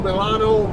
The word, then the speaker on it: Milano: it's i don't know what the locals call milano they might call them island or whatever it's